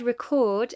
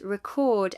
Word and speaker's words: record: For example, the word record as a noun and record as a verb have different stress patterns. The apostrophe before a syllable indicates primary stress. In record, the first syllable is stressed.